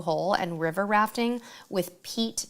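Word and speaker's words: Peat: and river rafting with Pete Taylor Tours, but it's spelled P-E-A-T Taylor Tours or just Taylor Tours, Ocho Rios, Jamaica.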